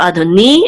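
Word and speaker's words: אֲדֹנִי: together say ni, and the accent again is over the nun, which means it's on the last syllable. So adoni, and again this means my lord.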